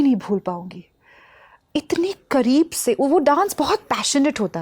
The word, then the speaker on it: Seville: आप मेरी तरफ से सेवी ज़रूर जाए। उसका स्पेलिंग SEVILLE है, उसको ऐसे सेवी और सवी कहते हैं।